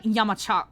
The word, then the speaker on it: Yamazaki: So, Y-A-M-A-Z-A-K-I, Yamazaki. But he says it like Yamachak, and I'm like, Korean is interesting.